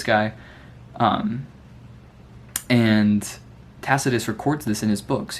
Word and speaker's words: Tacitus: And second to that is this new dude named I think it's Tacitus is how you say it.